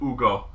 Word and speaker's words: Hugo: mom pronounces his name she never says like hugo she always like drops the age it's like ugo yeah and so you